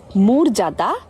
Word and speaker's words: মর্যাদা: সহজভাবে বলি আরেকবার, যদি অ এর পরে রেফ যুক্ত অন্য কোনো ব্যঞ্জন বর্ণ থাকে অন্তস্থ জ বাদ দিয়ে, তাহলে তার উচ্চারণ অবিকৃত থাকবে। আর যদি অন্তস্থ জ থাকে তাহলে ও এর মতো উচ্চারণ হবে, যেমন চর্যাপদ, মর্যাদা, পর্যায়।